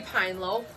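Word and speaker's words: Pinelope: We're pretty sure it's supposed to be the Penelope, but it is spelled P-I-N-E-L-O-P-E. Pine Lope. Pine Lope. We are sure we're saying it wrong, and we don't care.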